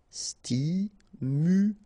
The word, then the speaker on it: stimulant: final e not here stimulant final not pronounced stimulant stimulant circulaire circulire circulaire